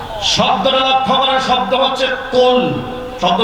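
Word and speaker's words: قل: শব্দটা লক্ষ্য করার শব্দ হচ্ছে কুল। শব্দ কি? কুল। এটা কফ উচ্চারণ করতে হবে।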